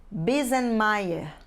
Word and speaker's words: Biesemeyer: Meio nós vemos assim bismayer da mesma forma que lemos o nome do arquiteto famoso Oscar Niemeyer e se diz Niemeyer